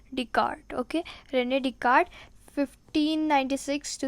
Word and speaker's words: Descartes: and then you will if you pronounce it will become like an Rene disc artists but it is not this Curtis it is Rene Descartes decart okay Rene Descartes 1596